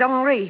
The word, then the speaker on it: Henri: This is Henri Vibbard. He pronounces it Henri.